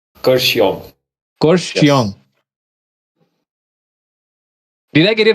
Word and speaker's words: Kurseong: very It's Kurseong. Kurseong. Kurseong. Did I get it right, Ray? Kurseong Can is you basically called pronounce the it?